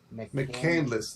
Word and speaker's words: McCandless: see what Sierra says McCandless is how you say that guy's name oh McCandless okay thank